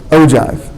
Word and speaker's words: ogive: relative frequency graph, or ogive. Okay? Ogive is how you pronounce that word there.